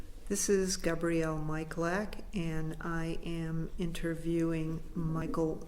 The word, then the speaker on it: Malyak: My full name is Michael anglicized Malyak. And how would you pronounce it otherwise? Not very much different. In my Slavic background, it would be Malyak.